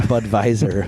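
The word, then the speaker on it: Budweiser: tastes like an ipa i believe you pronounce the w as a v yeah it's a bud visor yeah there you go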